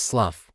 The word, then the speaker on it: Slough: And yes, his name is pronounced Slough because of course it is.